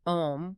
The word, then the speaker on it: Om: He explains that Om, which is phonetically spelled A-U-M, isn't just a random cultural sound.